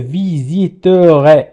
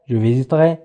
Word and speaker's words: visiterai: إذا الأفعال هي visiter يزور، je visiterai، سأزور هي تقرأ je visiterai ولكن ننطقها je visiterai.